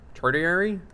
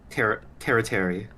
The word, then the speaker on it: tertiary: Tertiary? Territory, I think. Is it tertiary? I don't know how to pronounce. There's no I but before the T. Oh, you might be right. Yeah. Tertiary. It's like apiary.